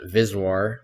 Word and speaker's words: VSWR: next two terms are vswr sometimes pronounced viswar stands for voltage standing